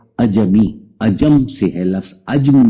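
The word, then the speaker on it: عجمی: میم اور چھوٹی ہے۔ اب اس کو اجمی بھی پڑھ سکتے ہیں، اجمی بھی پڑھ سکتے ہیں، لیکن اس کا صحیح تلفظ ہے اجمی۔ اجم سے ہے لفظ،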